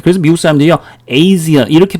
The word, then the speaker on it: Asia: 아직도 아시아 이렇게 하지 마세요. 아시겠어요? 예, 제대로 된 발음은 어떻게 됩니까? 뒤에 자음 하나, 모음 하나 이렇게 나오니까 A 발음을 해주는 거예요. 그래서 미국 사람들이요, Asia 이렇게 발음을 해주는 겁니다.